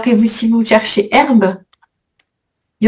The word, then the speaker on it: herbe: Alors que herbe, il y a pas de petite étoile. Donc c'est un H muet. mot d'origine latine. Oui. OK. Donc pas de pas d'étoile et on fait la liaison.